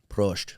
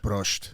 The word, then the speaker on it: Prost: Prost. Prost.